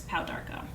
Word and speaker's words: pau d'arco: having like project babies it's spelled p-a-u-d-apostrophe a-r-c-o it's powdarco so in it goes and